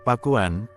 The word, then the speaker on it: Pakuan: tersebut Ia menjelaskan bahwa kata pakuan mestinya berasal dari bahasa kawih yaitu Pak Won yang kemudian dieja pakuan dalam lidah orang Sunda kata itu akan diucapkan pakuan jadi kata pakuan berarti